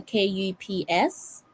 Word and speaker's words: KuPS: That's how you pronounce the name, Kups.